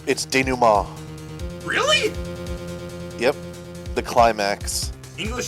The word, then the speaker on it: denouement: I'm used to saying like, or thinking of it as being like the denouncement, but It's denouement.